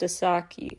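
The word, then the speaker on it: 4S4KI: stay on your radar asaki I apologize last time I wasn't sure it's spelled 4 S4 Ki pronounced aaki anyway she teamed up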